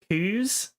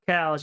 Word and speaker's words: coos: Coos, like say it like coo, not cows. You got to say coos.